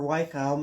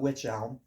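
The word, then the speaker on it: wych elm: not which elm or white elm or however you want to pronounce it correctly. If you want to pronounce it correctly, probably don't call it witch elm. WY ch.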